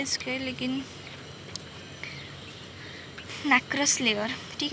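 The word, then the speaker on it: nacreous: Then last layer है नैक्रियस layer. Pronunciation बहुत अजीब है इसके, लेकिन नैक्रस लेयर।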